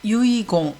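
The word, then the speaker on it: 遺言: 그리고 유언을 유이공, 이럴 때는 공으로 읽으니까 조심하시기 바랍니다.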